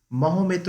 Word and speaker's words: Maometto: So Dante describes Maometto বা মোহাম্মদ, বা যাকে মাওমেটো উচ্চারণটা হচ্ছে এরকম, মানে মহমেতো এরকম উচ্চারণ হওয়া উচিত, মহমেতো।